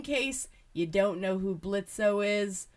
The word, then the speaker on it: Blitzo: Just in case you don't know who Blitzo is, or Blitz, because the O is silent, and you don't know Helluva Boss, but you're like, ooh, this is a really cool figure.